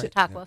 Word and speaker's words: Chautauqua: Chautauqua. Chautauqua.